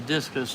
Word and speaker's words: discus: difficult discus are difficult yes discus that's how you say it discus I used to talk